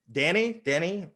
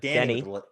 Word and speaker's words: Deni: Deni. It's like Deni. Deni, like Denny's.